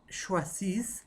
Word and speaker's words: choisissent: Et avec choisir, je choisis, tu choisis, il, elle, on choisit, nous choisissons, vous choisissez, ils choisissent, elles choisissent en pluriel. Hein? ENT, on ne prononce pas.